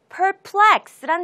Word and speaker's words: perplex: perplex란 단어가 되겠습니다. 자, 발음부터 같이 한번 연습해 볼게요. perplex. perplex. 강세가 뒤쪽에 있어요.